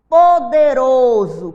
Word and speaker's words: poderoso: Campo cédula com cê Poderoso com s mesmo tendo o som de z Cabana mesmo tendo